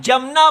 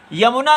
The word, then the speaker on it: यमुना: य का उच्चारण होगा अधिकतर लोग इसको ज बोल देते हैं जमुना बोलते हैं यमुना नहीं बोल पाते तो ऐसा आप